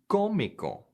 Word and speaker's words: cómico: IC near perfect cognates, the accent goes on the syllable just before the ICO. So here are some more examples. Artistic becomes artístico. Another example, comic becomes cómico.